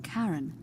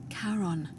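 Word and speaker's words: Charon: it's just as you described it only your pronunciation is a little off the name you heard wasn't Karen it was c h a r o n as in karon the Fairman of the Dead karon who in exchange for the right coin helps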